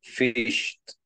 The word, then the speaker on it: fished: the verse and then fished at the river okay very good we are going to yes we are going to learn these guys fish you pronounce it very good fished with t sound very good okay guys